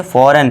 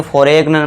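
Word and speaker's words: foreign: यदि जी के बाद एन हो तो जी साइलेंट होता है। बहुत ही इंपॉर्टेंट रूल है। जी के बाद एन है तो यहां पे देखिए क्या हो जाएगा हमारा? जी साइलेंट। तो इसे क्या पढ़ेंगे? फॉरेन। इसे फॉर एग्न मत पढ़ना।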